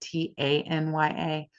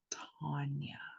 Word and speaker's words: Tonya: When I record TikToks and I say my name, it automatically spells it Tanya. It's fucking Tanya. Tanya. I am Tonya. Tonya. Like on. On.